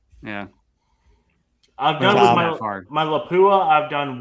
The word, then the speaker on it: Lapua: But Lapua is the correct pronunciation.